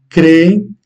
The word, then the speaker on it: creem: Eles creem, donc on accentue les deux voyelles, les deux E, mais l'un plus que l'autre.